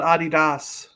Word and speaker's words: Adidas: In some parts of the world, they call it Adidas, not Adidas.